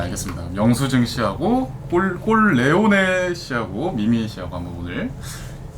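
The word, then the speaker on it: Corleone: 근데 발음을 제대로 해야 되는 게 꼴리오네가 아니라 꼴레오네. 꼴레오네. 꼴레오네. 예. 잘못 발음하면 꼴레오네다. 잘못 발음하면 약간 이상해질 수 있어서.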